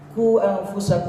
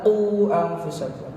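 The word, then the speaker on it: قوا أنفسكم: Kalau dhammah qu, bukan ku. Zayan kan ku bacanya. Ku anfusakum, padahal qu anfusakum.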